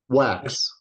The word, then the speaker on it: Wachs: We have, uh, with us today, um, someone I've been looking forward to, uh, do you pronounce it? Wax or Wax.